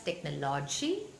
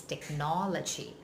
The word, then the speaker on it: technology: logic check no Lachie that means the stress is on no so if you pronouncing that's technology the stress has changed and the sound is wrong so the correct sound is technology and the same rule